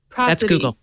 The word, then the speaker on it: prosody: I saying that right could be pros ad cuz its pros you went to Harvard what do you think he says I'm saying it right that's what Harvard prosody prosody prosody because it's pros rights from pros is the root word prosody is the pattern